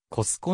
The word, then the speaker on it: コストコ: あるコストコにはアメリカ英語の発音に近いコスコのカタカナ転写があるが本稿では